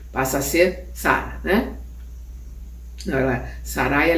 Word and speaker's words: Sarai: ela era sarai passa a ser Sara né sarai é sarí né Tem um umas umas umas nuances n nas pronúncias como Dev ser considerada no espiritismo a